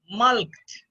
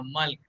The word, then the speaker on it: mulct: Mulked. Mulked. अब इसको कैसे प्रोनाउंस करोगे?